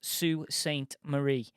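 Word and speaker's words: Sault Ste. Marie: canada and it's pr pronounced sue saint marie people that live there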